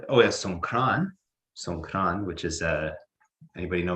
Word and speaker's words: Songkran: So Songkran is their pronunciation of Sankranti, which is like an astrological holiday, and it's about the same time as Easter.